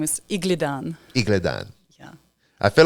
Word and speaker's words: Igledon: last name again my my last name is Igan yeah I feel like I say it wrong